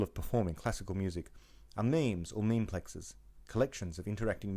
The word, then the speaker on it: memes: Dawkins coined the term memes, rhymes with dreams, for ideas that are replicators.